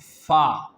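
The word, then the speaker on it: فاء: and it is about fa. Fa, the edge of our teeth will make a connection with our soft lower part of our lower lip. Then the fa will pronounce correctly.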